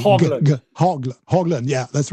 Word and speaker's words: Haugland: Hogland. Yeah. Hog Hogland with a G. Hogland.